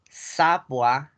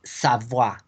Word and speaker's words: Savoie: Una O con una I latina junta se pronuncia como una A. Y la E no se pronuncia, recuerden. Entonces es Savoie. Savoie.